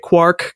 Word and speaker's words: quark: And so that was his justification for pronouncing it quark, because it's like quart.